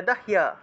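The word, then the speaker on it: দাহ্যা: অগ্নিনা অগ্নিনা দা হিয়া এখানে এর দ হ জ ফলা ছিল হ এর সাথে জ ফলা থাকায় এই জ ফলা থাকায় হিয় উচ্চারণ হয়েছে অর্থাৎ দ হিয়া এভাবে উচ্চারণ হবে তাহলে দাহিয়া দাহিয়া অগ্নিনা দাহিয়া মানাস্তু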